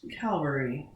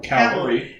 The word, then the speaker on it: cavalry: mean when 600 British Calvary cavaler Cavalry right that one I do know how to say but it did not say it right courageously charged and amassed